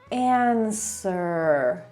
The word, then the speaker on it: answer: To w tutaj jest niewymawialne. Answer.